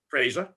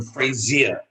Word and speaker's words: Fraser: Fraser. Okay. Most Americans call him Frazier. You know why that is, right? Because of the program. No. Believe it or not, because Joe Frazier, the boxer that knocked out Muhammad Ali, was Frazier.